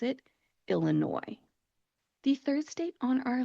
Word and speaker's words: Illinois: The state of Illinois is in the northern middle part of the United States, and it looks like it should be pronounced Illinois because it does end with an S.